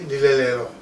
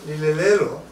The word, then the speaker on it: Lile Lelo: Depending on how you pronounce it, when you say Lile Lelo, it means a place where you nurture the young. When you say Lile Lelo, you say it's a place where you sit and plan.